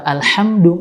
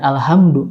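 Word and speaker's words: الحمد: yang mirip, yaitu kata Alhamdu dengan ha kecil dan Alhamdu dengan ha besar. Ketika kita salah membacanya dengan suara ha besar Alhamdu, bukan Alhamdu, maka ini beda arti atau makna.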